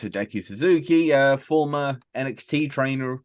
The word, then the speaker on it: Hideki Suzuki: gonna attempt to either I know it's Hideki Suzuki uh former NXT trainer